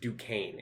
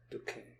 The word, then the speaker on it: Duquesne: And yes, that word is pronounced Duquesne in point of fact. Duquesne. Mm-hmm. I hate that. It's very French.